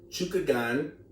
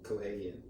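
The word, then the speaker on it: Chookagian: We're going to go with Caitlin Chukagian, not sure the pronunciation, don't murder me, versus Vivian Orejo. It was Cohagian. Cohagian? I think you're trying to read the nickname. I was like, that's not her name. It's like Caitlin Cohagian.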